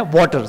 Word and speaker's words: Wachter: इसकी स्पेलिंग देखना, WACHTER, इसमें CH साइलेंट है, आपको सिर्फ यही पढ़ना है. वाटर, CH जो है वो साइलेंट है. ठीक है, इसको आप काट के पढ़ोगे तो आपको वाटर आएगा.